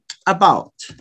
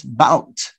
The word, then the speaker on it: about: here um about yeah the word about about has two levels no it is start with a shot so you start with a straw you use this o in an unstressed syllable oh it's not a stress you stress about you say about you say about about so you stress bout you don't stress oh so you use the